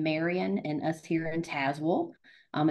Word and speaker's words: Tazewell: and today we're joined by Beth takish from tazwell Virginia did I pronounce that properly Beth you did yeah package